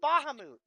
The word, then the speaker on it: Bahamut: But that's His it's name is- actually pronounced Bahamut. Yeah, Bahamut.